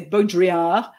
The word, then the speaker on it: Baudrillard: the beginning which was how do you say his name correctly I say beaudriad um and I think I think a French person would say differently a French person might say bonjouria or something like that but I yeah I